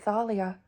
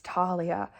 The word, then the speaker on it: Thalia: to get me to pronounce it Thalia it's Talia and it'll be taller until the end of time to me I'm simply one sentence